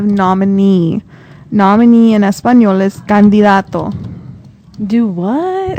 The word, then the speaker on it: candidato: Nominee in Espanol is candidato. Do what? It's like candidate, but candidato. Candidato. Candidato. Candidato. Perfect. Candidato. It's a D. Dato. Candidato.